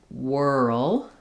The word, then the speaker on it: whirl: Um, because we are going from the R to the L. Whirl. It's um there's a little bit of a sound between the R and the L. So if that part is difficult for you, think about it as whirl.